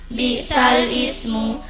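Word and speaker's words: بئس الاسم: Bertemunya dua huruf sukun atau mati tulisannya bi'sal ismu. Bacanya bi'sal ismu.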